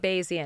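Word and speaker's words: Bayesian: I wanted to uh to stay a moment on Beijian reasoning. Basian. Basian. Is that how you pronounce it? Basian. Okay. Beijian is basian.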